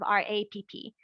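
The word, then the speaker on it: Rapp: And then Marjorie also asked, is R-O-P-P a variant of R-A-P-P? That could be, because R-A-P-P was pronounced Rap in Germany, which is how we would pronounce R-O-P-P in English.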